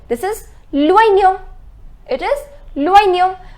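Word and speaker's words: l'oignon: It is loignon. Remember I told you the pronunciation of OI is OA. So it is loignon, which means the onion.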